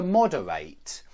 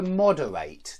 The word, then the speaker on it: moderate: remind you that if it's a verb you want to end the word with the sound eight to separate to delegate to moderate and one more thing